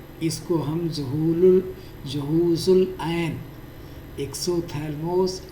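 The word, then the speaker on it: exophthalmos: इसको एक्सोथैलमोस पी एच यहां पर साइलेंट है। जैसे नाइफ में के साइलेंट रहता है।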